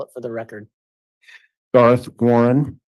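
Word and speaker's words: Garth Warren: good afternoon can you state your name and spell it for the record Darth Warren G a r t h w a r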